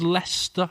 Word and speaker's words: Leicester: I assume it's Leicester is how you pronounce it.